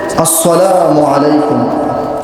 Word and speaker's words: আসসালামু আলাইকুম: এই ভুলটি হচ্ছে আসসালামু আলাইকুম। কি হবে? আসসালা তিনি কি উচ্চারণ করেছে? সাদ, কিন্তু এখানে উচ্চারণ হবে কি? সিন।